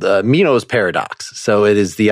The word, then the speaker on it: Meno: So that is a thing, I'll just spell it out in philosophy, called Meno's paradox.